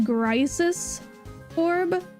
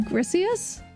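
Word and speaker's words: Griseous Orb: I always pronounced it Grisis orb, but I think that it's like Grisius?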